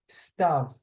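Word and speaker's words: סתיו: two last seasons um this one is a little bit tricky because of that UD I struggled with it as a young man as well because phonetically it's irregular um stav stav and we all there it's also a name so you'll hear people be called stav in Israel either female or male it's unisex um it's weird phonetically because it has the ud here in the middle I'm moving my cursor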